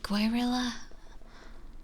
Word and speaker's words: guerrilla: Guerrilla? I forgot. Guerrilla. Oh, you just don't pronounce the U at all.